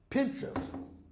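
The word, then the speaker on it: Pensieve: Pensive. Pronounced the same way.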